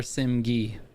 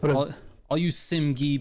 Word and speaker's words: Simg: So which way is it? Simg or Simgi? I need to know. It's true. Scarcity. What's up, guys? It was in Simg's stream earlier. Simg. There we go, dude. So I'm saying it right then. All you Simgi people out there, you're saying it wrong.